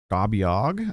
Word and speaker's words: Gabiog: So, Gabiog, I believe was how Pixie said it was pronounced. I'm trusting her on all these pronunciations. Hopefully she's not clowning me.